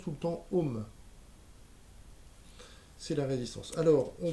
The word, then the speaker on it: ohm: avec le la lettre grecque omega mais on prononce tout le temps home c'est la résistance alors on va voir comment